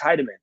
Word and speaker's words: Heideman: I'll say his name Alex Heideman like Heidi and I will text